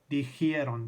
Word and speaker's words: dijeron: That J just kind of naturally cuts straight over to the E. And that I just sort of naturally sloughs off phonetically. If you say it and think about it, it makes perfect sense kind of phonetically.